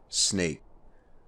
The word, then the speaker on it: Snaic: kind of resembles it i'm going to be calling it fort snake now as you can see it's not spelled snake it's about snaic and